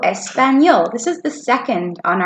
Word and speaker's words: español: Focusing on the special letter sounds, H being silent, hablo, y, ñe making the ña sound on español. Good job. ¿Hablas español?